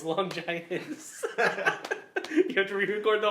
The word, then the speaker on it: Longinus: you pronounced it wrong. It's Longinus.